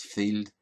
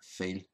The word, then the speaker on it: fiel: So again, Ulster Scots tends to be economical with letters, so the D is dropped from the word field. So it's not pronounced as field, it's just pronounced as Fíel.